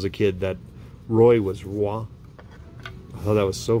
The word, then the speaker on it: Roy: when i was a kid that roy was wah i thought that was so funny when i